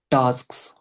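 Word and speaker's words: tasks: बट मैं अभी focus कर रहा हूँ कि प्रोनाउंसिएशन को ठीक करो, है ना? Task. इट्स टास्क्स, टास्क्स।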